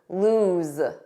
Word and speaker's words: lose: Now, don't confuse this with the spelling of lose, which has one O and a different pronunciation because notice that Z lose. Lose.